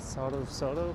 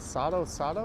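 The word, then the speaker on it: Sotto Sotto: It's been ages since you last night at Soto Soto. How do you say that? Soto Soto or Soto Soto? S-O-T-T-O, but it's Italian.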